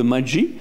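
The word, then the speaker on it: Maggi: C'est Magie M A G I peut-être prononce même autrement hein que Maji.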